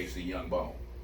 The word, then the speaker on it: KC YoungBone: KC YoungBone. It's the letter K, the letter C, Young, just like it sounds, how it's spelled, and Bone, same way, on everything.